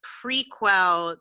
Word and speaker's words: prequel: on turning writing a tv show from the prequel to my first book i think it's pronounced prequel but go ahead prequel prequel